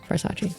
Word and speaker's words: Farsace: Versace links below it's like Versace but far away farace farsace oh nice how many